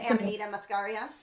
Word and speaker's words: Amanita Muscaria: The Amanita Muscaria.